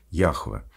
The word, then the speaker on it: Яхве: конечно же ошибка фонетическая потому что такого зча и имени вообще не существует есть имя Яхве Как правильно сегодня его произносят исследователи именно еври и